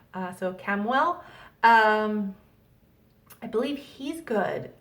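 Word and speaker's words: Chamuel: well ch am UEL I've always pronounced it as like a k so cam well um I believe he's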